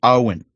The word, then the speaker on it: Owen: He has written how his name is pronounced because I would have said it the wrong way. So it's Owen.